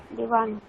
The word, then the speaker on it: देवान्: দেবান তাহলে অসন্ত আপনি আছে। উচ্চারণটা কেমন বলছেন, দেবা ন আছে কিন্তু ওখানে অকার নেই, নিচে হসন্ত আছে একটা, তাহলে দেবান।